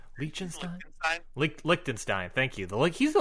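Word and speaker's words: Liechtenstein: with Lucas Von goop he's le le the lakstein head I don't know if I'm pronouncing that country right linin lickstein thank you the he's the lickstein heavyweight champion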